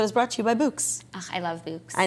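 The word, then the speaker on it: Bouqs: Pronounced Books. That's short for bouquets, obviously.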